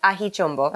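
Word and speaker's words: Aji Chombo: this is on the label that's how you pronounce it ahichumbo okay um my husband had brought back like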